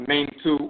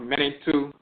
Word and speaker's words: Mentu: Mentu is the divinity. Mentu is the divinity, pronounced Mentu or Mentu.